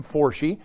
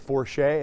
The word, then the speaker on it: Forshee: myself my name is forshee that is irish not french do not pronounce it for shay and we'll be just fine today i'm a practicing